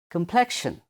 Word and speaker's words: complexion: Complexion. Complexion. How to pronounce?